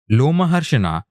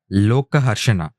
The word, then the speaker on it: Lomaharshana: Lomaharshana should have been pronounced as Lokaharshana.